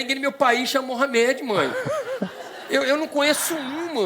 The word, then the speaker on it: Mouhamed: O meu não, o meu já é Mohamed.